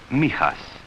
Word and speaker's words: Mijas: It is pronounced Mijas.